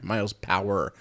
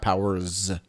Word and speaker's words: Miles Power: Sorry, Miles Power, not Powers.